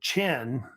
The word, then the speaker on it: Qin: course they had this Kingdom called Ken so they pronounced it also chin as well and it